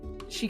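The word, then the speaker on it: Sidhe: Uh, and then the sign just says uh, the she siblings present arcana farmers. She siblings pronounced s i d h e.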